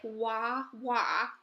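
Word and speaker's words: Huahua: is this your name Wawa and she said yes yes so for the teachers teaching feedback I wrote her name sounds like waa waa waa waa and it's spelled hua hua that kind of stuff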